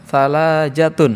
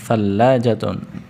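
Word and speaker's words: ثلاجة: Fi baitina salajatun. Naam, thalajatun. Salajatun. Ya, di lamnya bacanya ada tasjidnya. Tasjid.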